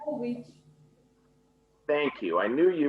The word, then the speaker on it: Jovovich: How do we pronounce this last name? I'm going to make sure I get it correct. Jovovich.